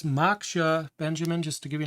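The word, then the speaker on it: Moksha: now it's working so there's some information it's pronounced maksha and they give some information about the origin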